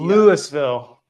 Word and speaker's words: Louisville: They pronounce it differently than the Kentucky Louisville.